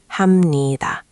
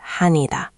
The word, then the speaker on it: 합니다: The tricky part is the 합니다 at the end. Make sure you're clearly pronouncing the M sound. 합니다, not 하니다.